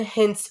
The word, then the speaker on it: Hince: name and hints yeah it's like spelled like prince hints h-i-n-c-e or pronounce like prince but h-i-n-c-e we have five minutes